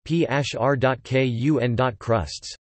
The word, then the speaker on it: Pērkonkrusts: Pērkonkrusts Latvian pronunciation, PHR.KUN.Krusts, Thunder Cross, was a Latvian